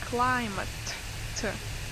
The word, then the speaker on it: climate: also, can you please say climate? Climate. Oh, climate. Climate. Good. Yeah. So Yeah. here you need to pronounce t at the end.